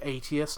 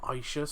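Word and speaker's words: Aetius: the last video it's the roman general's proper pronounced name is atheists not isis so so let's see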